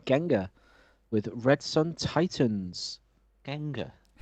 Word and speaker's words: Gengar: with red Sun Titans Gengar like the Pokemon yeah oh that'd be why I don't I'd pronounced it wrong then right let me get